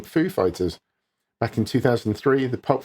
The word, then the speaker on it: Foo Fighters: another stab at pronouncing Foo Fighters. Back in 2003, the Pulp Fiction star introduced the band on SNL, putting the emphasis on fighters rather than foo.